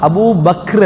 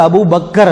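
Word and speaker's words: أبو بكر: என்ன அபூ பக்கர் அபூ பக்கர் நம்ம சொல்லி பழகிட்டோம், சொல்லி பழகினது ஒரு பெரிய ஒன்று அல்ல, சரியான உச்சரிப்பு அபூ பக்ர், அபூ buck, அபூ பக்ர் அப்படிதான் சொல்லணும்.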